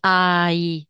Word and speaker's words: hai: abbiamo detto o E qua si pronuncia ai e la h sempre non si pronuncia E tu quanti anni hai Allora il verbo qua